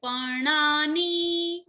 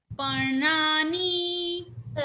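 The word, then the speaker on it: पर्णानि: So N has a dot under, right? So it becomes ana, right? It is pronounced as parnani. Yes, parnani.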